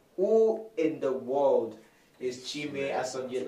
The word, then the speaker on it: Chime Asonye: He's no other person than Chime Asonye. Did I get the pronunciation right?